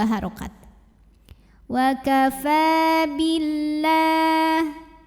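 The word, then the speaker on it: بالله: Wa kafa billah. Lam pada lafaz Allah dibunyikan secara tarqiq sebab huruf sebelumnya berbaris kasrah yaitu huruf ba. Maka dibacanya tipis. Lah pangkal lidah tidak perlu naik.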